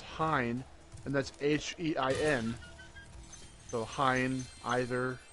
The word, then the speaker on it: Hine: So Hine, either, like Heine, even I think is that E?